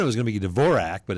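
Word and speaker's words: Dvořák: So guest artists will come in and say, "Oh, I like your Dvorak Hall," and we're like, "No, this is Dvorak. It's named after someone particular. Same spelling, different pronunciation."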